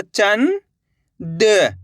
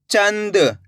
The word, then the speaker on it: चंद: कैसे पढ़ेंगे? चंद। ऐसे नहीं पढ़ना आपको चनद। अगर आप चनद पढ़ दोगे तो यहाँ पे ना का पूरा उच्चारण हो जाएगा, जबकि अपन को करने के आधा उच्चारण निकालना है। बिंदी दिख जाए आपको तो आधा उच्चारण निकाल देना ना का।